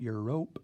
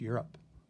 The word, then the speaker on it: Europe: make the vowel long but Europe it's not your rope it's you're up okay and so that's